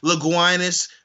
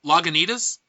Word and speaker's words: Lagunitas: may not know, tell them that you're drinking Laguinas Brewery Harry Eyeball. You mean Lagunitas? Laguinas is how I pronounce it when I'm drinking, so fucking stop it.